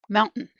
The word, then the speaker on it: mountain: Certain mountain. Eaten. Button. Cotton. Written. Curtain. Forgotten. As you can see, we do not pronounce that T so strongly that comes before the N.